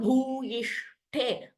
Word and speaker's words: भूयिष्ठे: उत्तमम् दुराशा भूयिष्ठे so here bhu and he are mahapranas. Please note here durasha bhuyishthe.